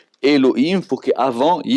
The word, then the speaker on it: Elohim: on va le prononcer elohim on va le prononcer d'après sa vocalisation non pas d'après ces lettres parce que le nude